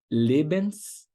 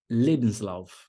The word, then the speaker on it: Lebenslauf: Lebenslauf. Pode repetir comigo. Der Lebenslauf. Sílaba tônica é a primeira, e fica em cima do primeiro E. Le.